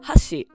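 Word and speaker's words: 箸: but it isn't stressed pitch accent can change the meaning of a word for example huh she means chopsticks with the first syllable being accentuated but if you say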